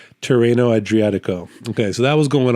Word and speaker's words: Tirreno Adriatico: it up so I can say it correctly terano adriatico okay so that was going on at the